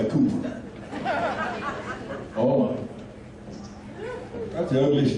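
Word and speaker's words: Kuiper: He spells his name K-U-I-P-E-R. How do you pronounce it? K-U-I-P-E-R. Second vowel, right? No, he goes by Cooper.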